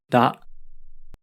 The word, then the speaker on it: ら: the letter r but it's actually pronounced as a soft t or d sound as in butter or pudding keep that in mind